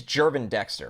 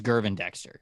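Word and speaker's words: Gervon Dexter: It is Jervin Dexter, right? I thought it was like a harder G. I thought it was Gervin Dexter.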